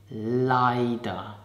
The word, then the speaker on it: leider: So let's start with the first adverb, leider, and pronounce it leider.